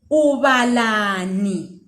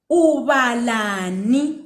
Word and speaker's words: ubalani: Ubalani. Ubalani.